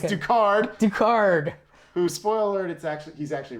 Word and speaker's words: Ducard: Duval and Oh, yeah. all the stuff he says. Did I say his name wrong?